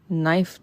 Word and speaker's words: knife: k ile yazarak başlıyoruz Hani Knife diye yazılıyor naife diye okunuyor Yani oradaki K var mı yok mu Allah bilir Şaka şaka